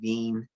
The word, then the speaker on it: Wien: named wilhelm veen so this is german ws are pronounced with v's so he his he said his last name veen um i've heard this pronounced just as often weans law because you know